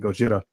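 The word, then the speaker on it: ゴジラ: I'm going to pronounce it Gojira, no matter Yeah.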